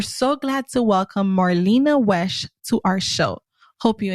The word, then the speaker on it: Wesh: Today we're going to be introducing Marlena Welch. I hope we pronounced your last name right, Marlena. It's Wesh, yes. Wesh, so there's no L in it. No L, no.